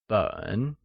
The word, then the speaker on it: 本: The measure word for volume or any bound print or written matter is 本, which is pronounced in the falling rising tone.